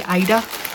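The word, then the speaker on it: Aida: I say Ada, I don't know if I say that right. I think I've watched one podcast where they say Ida, and so if I'm saying it wrong, apologies, please do let me know. But I've always been told it's Ada, but I can understand why someone would say Ida, since it's A-I-D-A.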